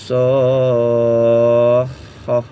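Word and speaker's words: الصَّاخَّة: Fa idza ja'atis shakhah. Ya, lanjut. Shakhah. Ya, tadi masuk dulu. Shakhah. Dipanjangkan dulu 6 harokat, lalu masuk suara ke yang kho bertasydid ini ya. Shakhah. Seperti itu bacanya. Kita ulang pelan-pelan.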